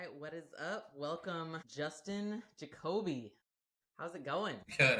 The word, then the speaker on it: Jacoby: No, you said it right, Jacoby. Jacoby.